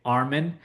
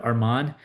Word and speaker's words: Arman: Like uh people here if you read my name they'll most likely say Armen instead of Arman even though there are two A's after the M.